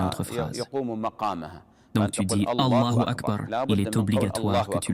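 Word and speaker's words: الله أكبر: en prolongeant le bas de Akbar. Et ceci est une erreur, car le sens change. Le takbir consiste à ce que tu dises. Allahu Akbar. Voici la manière de le prononcer.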